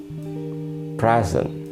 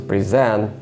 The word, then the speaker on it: present: And the examples are present. It's a gift, but versus present means give something formally.